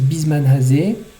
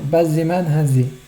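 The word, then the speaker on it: בִּזְמַן הַזֶּה: Il y en a qui disent bisman hazé. Grammaticalement, c'est pas top. Il faudrait dire bazzeman hazé. Au niveau grammatical, c'est plus juste.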